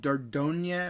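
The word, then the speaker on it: Dordogne: release date for that a game called dardogna or i'm pretty sure that's a silent g d-o-r-d-o-g-n-e coming out 2021 kitsune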